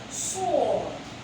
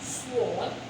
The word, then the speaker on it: sword: Lastly, we have another word example, which is sword. Let's take it together. Sword. Now it is not pronounced sword because the W there is silent, so we go sword.